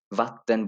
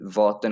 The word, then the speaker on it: vatten: एंड यहाँ वी को व कहते हैं तो इसलिए इसको, और यहाँ पे 2 टी हैं तो इसलिए इसको वात्तन बोला जाएगा, वरना ये वॉतन होता अगर एक टी होता, तो वात्तन।